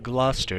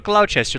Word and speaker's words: Gloucester: row to the north road to Gloucester not a cloud Chester like I pronounced before that's a Welsh name